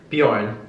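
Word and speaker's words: Björn: Bor beour Bourn Bjorn Bjorn the J is silent in Scandinavian oh Goa gotta gotcha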